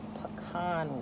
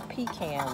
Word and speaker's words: pecan: And this is pecan wood or pecan wood. Whatever side of the Mason-Dixon you're from is probably how you say it.